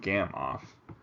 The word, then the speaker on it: Gamow: noodles serves him right a gam off bag pronounced gam off was invented by Igor